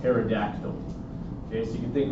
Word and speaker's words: pterodactyl: Again, the P is silent just like in ptosis. Pterygium, not a pterygium, just pterygium. So you can think of a pterygium like another word that begins with P that is silent. And we're thinking prehistoric dinosaurs, like pterodactyl.